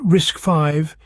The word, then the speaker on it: RISC-V: why does it matter RIS TV pronounced risk five is an open- Source